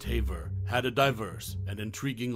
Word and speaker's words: Haver: sphere actress June Haver whose surname is pronounced Haver had a diverse and